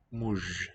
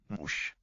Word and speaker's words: muž: Muž. So it's written ž, but it sounds like it's going to devoice in word final position to a mush sound.